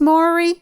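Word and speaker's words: Māori: be back next year pronounce maori with a long o sound and consider a tattoo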